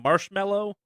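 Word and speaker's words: Marshmello: better than I came marshmallow it's just marshmallow yeah is it just marshmallow yeah okay just marshmallow yep okay spell word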